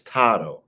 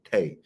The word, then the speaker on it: Tagovailoa: It's Tato, not Tay.